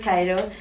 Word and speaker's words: Ciro: rock and we're called Cairo it's spelled c i r o but pronounced Cairo we're a heavy well